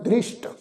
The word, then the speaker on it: दृष्ट: आवन जावन दृष्ट, दृष्ट ससे पैर बिंदी लगा के उच्चारण करांगे दृष्ट।